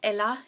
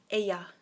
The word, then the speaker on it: ella: Now the con ella, the L's are pronounced as a Y, so it's not ella, it's ella.